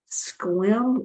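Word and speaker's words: Sequim: Washington state between the water and the mountains pronounced like Squam okay squim Washington I have to look that up I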